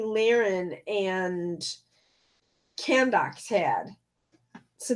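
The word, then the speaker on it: Lahren: name by the weights Lehren is not Lauren but Tommy Lehren and can docs had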